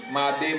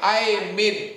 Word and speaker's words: Made: Membacanya pakai I, Made. Bacanya Aimin, katanya. Makanya nama saya sekarang tidak ada I-nya di depan. Tetap Made. Supaya tidak dibaca Aimin.